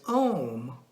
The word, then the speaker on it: Om: It is said that Lord Shiva, as the apparent creator, formed Sanskrit letters from the primordial sound of Om, A-U-M, pronounced as Om, O-M, while playing his music instrument Damaru.